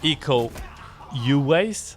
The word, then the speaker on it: Iko Uwais: arts and fight scenes, which is Iko Uwais. I think that's how it's pronounced. Probably I'm killing it. No, you nailed it.